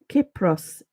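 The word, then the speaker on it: Κύπρος: She says Cyprus, Kypros in Greek.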